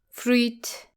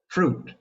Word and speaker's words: fruit: It is usually pronounced as fruit. But it should actually be fruit. Fruit, just like the word suit. That is correct. Do not add an extra e sound when saying these words. Fruit rhymes with suit and boot.